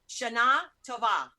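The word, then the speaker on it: שנה טובה: Shana Tova. It's like Shana Tova. It's like the thing is, my friend Roxy told me it's on the A, so I'm just following.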